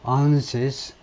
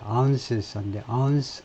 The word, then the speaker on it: ounces: 이 폭약은 as little as 1 to 2 ounces, 발음은 이제 ounces인데 ounces.